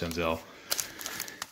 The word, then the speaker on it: Senzel: Bowman 9051 says it's pronounced Senzel.